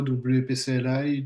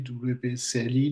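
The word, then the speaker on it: WP-CLI: Donc, au niveau de la présentation, de la prononciation, on peut entendre parfois WPCLI, WPCLI, WPCLI. Donc, il n'y a pas de prononciation officielle. Donc, c'est un peu comme vous le souhaitez.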